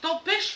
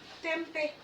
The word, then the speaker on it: tempeh: Ben, c'est tempêche là? Non, tempeh. Tempeh.